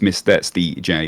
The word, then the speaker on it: MrSteJ: socials just search for Mis stj which is the hardest used name to say no one knows how to say it but it's Mis D J which is my name